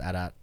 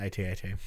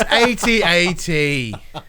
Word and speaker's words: AT-AT: Right after they reinforce it, it's pronounced AT-AT, not AT-AT. It's AT-AT.